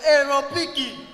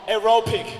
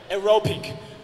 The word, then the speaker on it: aerobic: Kowe aerobiki. He's right, but pronounce it wrong. Aerobic, okay? Next time you have to pronounce it correct. Aerobic.